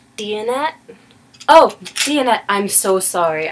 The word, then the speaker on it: Diyanet: because I've been calling it the dianet center and N that's not what it's called it's called the deonette center okay like diet diet I swear I was